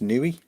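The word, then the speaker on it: Niue: It's pronounced Nui.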